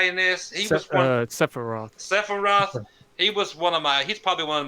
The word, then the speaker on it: Sephiroth: Steppenroth? I can't remember. The bad guy in this, he was one. Sephiroth.